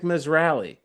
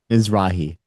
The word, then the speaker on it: Mizrahi: Isaac Misalli. Well, how do you how do you say his name? Mizrahi.